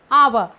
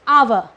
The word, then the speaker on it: hour: get here honest or hour so honest hour so we call it as a so we use and here okay as h is silent here though it is beginning